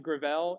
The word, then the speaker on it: Gravel: Listed at the top is a guy named Mike Gravel. It looks like gravel, but it's Gravel.